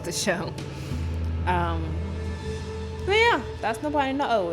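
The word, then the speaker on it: Nabari no Ou: But yeah, that's Nobody No Oh. It's spelled Nabari space NO space OU. Nobody No Oh.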